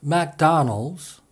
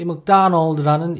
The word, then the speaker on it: McDonald: 사전에 나와 있는 설명처럼 McDonald의 IPA 국제 음성 기호를 보면 Mac라고 하지 않고 Muck라고 발음하도록 되어 있습니다.